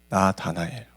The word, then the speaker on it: 나다나엘: 나다나엘. 발음하기가 쉽지가 않습니다. 우리는 다니엘을 잘 기억하고 있기 때문에 자꾸 나다니엘이라고 발음하고 싶은 욕망이 엄청 크지만 이름을 바꿔 부르면 안 됩니다.